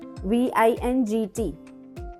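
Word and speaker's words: vingt: V-I-N-G-T, vin. V-I-N-G-T, vin.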